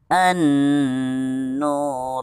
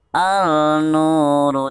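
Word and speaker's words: النور: lagi mau pmui Muna an-nur tidak dibaca Out Boy Munah al-nur tidak seperti itu melainkan maupun yimou nah an-nur Oh pakai teman-teman sekarang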